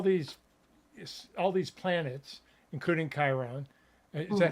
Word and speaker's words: Chiron: all these all these all these planets including Chiron is that how you pronounce it Chiron Chiron yeah okay yeah including including Chiron and